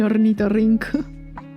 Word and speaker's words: ornitorrinco: Now that I'm doubting myself, I can't even pronounce it. Ornitorrinco. That's how you call it.